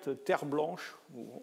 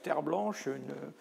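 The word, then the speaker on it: Terblanche: C'est un petit garçon qui s'appelait Gert Terre Blanche. Vous noterez la consonance Terre Blanche, ça s'écrit T-E-R-B-L-A-N-C-H-E, mais je pense que c'est à l'origine un nom français, Terre Blanche.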